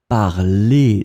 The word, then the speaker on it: parlez: the present tense, and the ending is EZ. Voilà. And then you pronounce it parler. So phonetically, it is exactly the same form as the infinitive, but you need to write it like that.